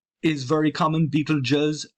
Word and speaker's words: Betelgeuse: Betelgeuse is very common. Betelgeuse, pronouncing this SE at the end as a Z is very, very common.